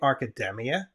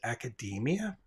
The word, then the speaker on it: academia: about this last week I actually say arkademia Academia is how I pronounce it um but I had the change for the video because the proper pronunciation is is Academia and I do try